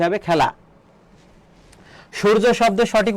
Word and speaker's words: সূর্য: তাহলে দেখো সূর্য এখানে ছয়ের মতো উচ্চারণ হচ্ছে না, তাহলে দন্তস্ব হবে না। তাহলে যেখানে দন্তস্ব আছে সেটা ভুল যাবে। আর উচ্চারণের ক্ষেত্রে দীর্ঘকারের ব্যবহার নেই, সেক্ষেত্রে রস্যকার হবে, তাহলে এটাও ভুল। এখানে সুরুজ আছে, এটাও ভুল হবে। তাহলে এটা কি হবে? সঠিক উত্তর হবে ক, সূর্য।